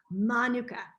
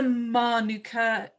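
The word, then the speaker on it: mānuka: well it's a maori it's a maori word and it's pronounced manuka so just a little do we know what the manuka means in maori it's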